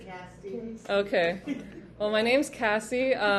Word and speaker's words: Cassie: Oh no, maybe I should start spelling my name out because most people hear, Yeah. but it's Cassie. Cassie.